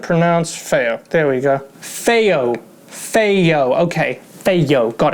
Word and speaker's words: FiiO: to pronounce their name give me a second pronunciation ounce fair there we go feyo feyo okay hey yo got it right the